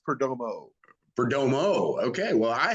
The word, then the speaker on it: Perdomo: pink man to uh be welcoming uh perdoma is that that's the correct uh uh pronunciation is it not uh oh so it's Perdomo for Domo okay well I have been uh